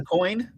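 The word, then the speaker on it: Aucoin: He's like a Adrian Acoin.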